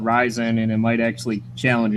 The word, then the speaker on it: Ryzen: The AMD CPU architecture is now called Ryzen, pronounced Ryzen.